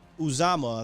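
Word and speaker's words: Uzomah: got paid third uh uzama i think is how you say it fifth higbee fourth so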